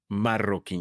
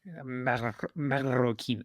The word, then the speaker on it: Marroquin: Is that how you would pronounce it? Marroquin. You have to roll the R's. Marroquin.